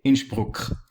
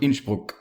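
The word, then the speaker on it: Innsbruck: north and therolian dialect if northern terrarians refer to their capital city they say inch broke it has this k sound at the end whereas south terrellian is way softer they wouldn't say inch broke but inchbook and so it wouldn't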